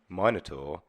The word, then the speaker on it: Minotaur: I just want to say Minotaur, 100% the correct way to say it.